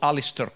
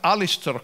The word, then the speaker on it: Aleister: Now, we should mention at this stage that all these good folks in the US were heavily influenced by a magician called Aleister Crowley, who died in 47, was born in 1875.